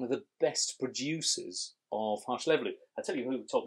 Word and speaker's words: Hárslevelű: I'm trying to think, do we have Hárslevelű on our grape varieties and how to pronounce it? Hárslevelű, oh, I love Hárslevelű.